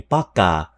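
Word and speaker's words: пока: Baka with a P. Paka.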